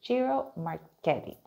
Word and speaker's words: Ciro Marchetti: So this controversy around it and all this speculation how to exactly pronounce it is Ciro Marchetti.